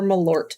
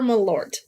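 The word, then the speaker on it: Malört: aiming with that one water or malort which I'm told is how you say that um I wouldn't know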